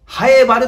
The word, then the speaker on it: 南風原: と呼びますね南はねパイやハエそしてフェイと呼んだりしますけどもはエバールと言う音や味方をしますと 3 文字で早まる南に風と書いてはやと呼びますそしてカラファ貼ると言います南風原ハイバズ長